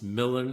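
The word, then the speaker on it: Milam: You know, my last name M I L A M. It It's just five letters, but nobody can pronounce it right. It's Milan. It's Milan.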